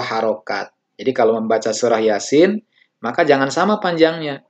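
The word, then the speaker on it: يس: Jadi kalau membaca surah Yasin, maka jangan sama panjangnya. Jadi ya-nya 2 harokat, sin-nya 6 harokat.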